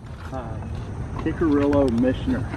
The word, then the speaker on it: Kickerillo Mischer: Okay, how do you pronounce the name of this park? I always forget. Kickerillo Mischer.